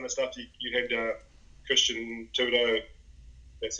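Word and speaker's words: Thibaudeau: Christian Tudo, that's how you pronounce it, neurotyping stuff.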